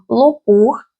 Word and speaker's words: лопух: Літопис, вимовляємо о лопух вимовляємо о наближене до у.